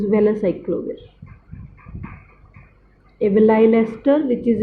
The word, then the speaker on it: valacyclovir: If we read it as well, well, velyl ester of acyclovir, but to pronounce it is valacyclovir.